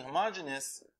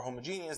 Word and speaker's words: homogeneous: F of x1 so the of system being homogeneous or homogeneous depending on how you want to pronounce it is that if you had a